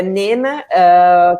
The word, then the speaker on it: Nena: ele se chama nena para quem tá no brasil vai achar que fala em linha né mas não o jeito de pronunciar é nena que é uma palavra